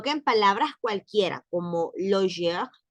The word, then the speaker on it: loger: Y dice, on ne prononce pas le R dans la finale, le sas en R, comme loger, no decimos loger, sino loger, es un E, loger, garder, con sonrisa,